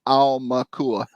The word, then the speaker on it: Aumakua: Aumakua. Just think like owl, because it's AU, and that's owl in Hawaiian. So Aumakua.